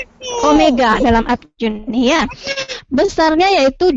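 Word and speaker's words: ω: anguler ini kita simbolkan simbol Omega dia memang seperti W tapi kita bacanya Omega dalam arjuni ya besarnya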